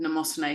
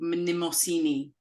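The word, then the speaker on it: Mnemosyne: of um oh yeah she's not called NEOS she called minimini is the correct pronunciation like the role of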